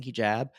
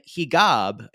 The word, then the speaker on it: hijab: And I kept saying, what is when they hijab? He's like, no, actually the in Egyptian Arabic, there is no j.